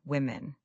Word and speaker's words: women: The vowel sound changes completely. Say them with me. Woman, women. Imagine you're talking about a group. You say those women are all doctors.